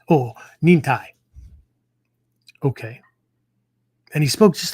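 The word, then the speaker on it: 忍耐: He says, oh, Nin-Tai.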